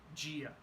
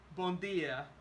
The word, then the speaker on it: dia: think about this Gia there's no j there is just d i a but when you have the combination of D and I you don't say d you say G don't ask me why I do not have that answer but it happens so if you say bondia you sound like a uh from a very specific region of Brazil or from Portugal Import in Brazilian Portuguese